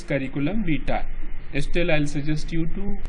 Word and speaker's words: curriculum vitae: Yes, this is the pronunciation, curriculum vitae. There are some who wrongly pronounce it as curriculum vitae. There are some who wrongly pronounce it curriculum vitae. It is curriculum vitae.